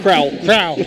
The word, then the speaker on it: Kroll: And Boston Kroll, how do you say his name? Crowell. We were saying it wrong, Claymont, but Boston Crowell, they'll come off the bench.